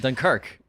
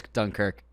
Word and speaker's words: Dunkirk: like I said, why do you say it like that? Dunkirk. That's how he says it with the Irish accent. It's because I just watched a bunch of Cillian interviews. He says Dunkirk.